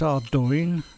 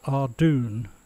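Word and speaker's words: Ardougne: Scottish word and it's ardune not our doing that's a lot of people say but I'll go with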